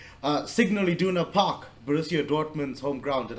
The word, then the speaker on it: Signal Iduna Park: Signal Iduna Park, Borussia Dortmund's home ground.